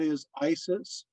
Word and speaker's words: Isis: her name uh so for some people it is isis the long i for others the vowel is a long a for still others it is a long e sound as in meat